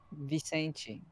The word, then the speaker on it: Vicente: Vicente. That's how we pronounce Vicente. It in Portuguese.